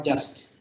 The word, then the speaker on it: jus: Now, just to explain the origin of the word justice very briefly, the root of the word justice is jus, J-U-S. It's pronounced jus.